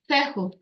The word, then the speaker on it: Fehu: And it's, how do you pronounce it? Feo. Fehu, Fehu.